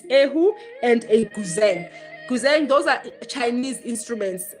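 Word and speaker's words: 古筝: It's pronounced guzheng, but it's spelled with a Z, guzheng. Hence I say guzheng, so that, because we know with the Chinese letters, X is C, it's pronounced as Sia, and ZH is pronounced as Che, I think. Hence say it's Gucheng, something like that.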